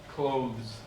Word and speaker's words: clothes: coves yeah yeah yeah the th because the th sound changes different words right yeah clothes yeah it's almost sounds like okay now so and